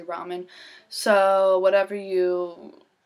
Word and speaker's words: ramen: ramen noodles ramen noodles i say raymond i don't know why but people tell me i'm saying it wrong so i say ramen so whatever you say